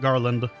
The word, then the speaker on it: Garlond: It's spelt with an O on the end instead of an A. Instead of Garland, it's Garlond. But it's pronounced Garland.